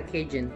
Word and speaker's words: Cajun: Y este es un sazón que se llama, se escribe Cajun, pero se llama Cajun.